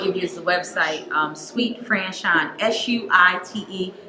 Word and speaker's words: Suite: The first thing I will give you is the website, Suite Franchon, SUITE. It's spelled like a hotel suite, okay? But it sounds like candy.